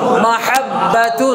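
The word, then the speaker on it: مَحَبَّةٌ: ভুল তাহলে তা দুই পেশ দু কি হবে মাহাব্বাতুন মাহাব্বাতুন মাহাব্বাতুন মাহাব্বাতুন মাহাব্বতুন তাহলে ময় আকার মা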